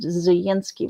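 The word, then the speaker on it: Zelensky: according to the narrator it's pronounced zinski with sort of a why sound almost U but inside the in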